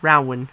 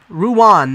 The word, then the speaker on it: Rouen: Mecca has its own or rawan ruin that's the more correct pronunciation Marseille Rouen County you